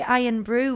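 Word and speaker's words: Irn-Bru: Well, I mean, that's how you say Iron Brew without the vowels.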